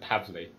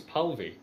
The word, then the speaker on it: Palvi: You typed it wrong, Niall. You said Pavley. That's exactly the way he sent it to me. Really? Because his name's Palvi.